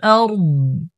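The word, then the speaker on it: الأرض: ইউসাব্বিহু লাহু মা ফিস সামাওয়াতি ওয়াল আরদ, আরদ কেন দদের উপর অক্ষ করার সময় দদের উচ্চারণটা স্পষ্ট করতে হবে।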